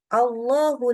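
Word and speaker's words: الله: kalingat contoh ada tulisan Allahu La ilaha illa huwal hayyul Qayyum Allahu jadi bacanya Allah nah Allah ya tadi ya tebal tadi kita lihat balik lagi ke gambar sekarang membaca lam dengan kondisi tafhim maka pangkal lidah yang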